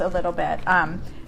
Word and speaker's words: a little bit: And this is a great question because it's kind of like a reduced sound. A little, a little. So a little bit is a little. We'll link those together. A little, a little. The T sound turns into that flap T, or more like a D.